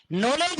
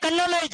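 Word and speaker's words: knowledge: ये नाइफ है, कनाइफ है, नॉलेज है, कनॉलेज है, साइकोलॉजी, फाइकोलॉजी है। पी साइलेंट है, के साइलेंट है।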